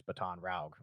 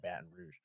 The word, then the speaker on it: Baton Rouge: just that's you know how my mom pronounced the word and so the one that I always remember his baton route instead of Baton Rouge there's there's those little